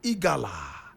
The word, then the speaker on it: Egala: Alhaji IMORU EGALA. How many of us have heard about this name before? Does it ring a bell in our ears? Alhaji IMORU EGALA. IMORU is spelled I-M-O-R-U. EGALA is E-G-A-L-A.